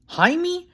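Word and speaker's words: Jaime: Jamie Joey pointed out only spells it weird j a i m e um that's pronounced ha his dad informed him Hae Joey repeated slumping into his chair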